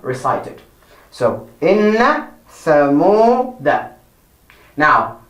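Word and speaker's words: إنّ: Our first word for this lesson is inna. So inna has the alif. You write alif and the kasra. I. Then you write the na, and the tashdid and the fatha. I. Inna. Then we go to the next word, the tha.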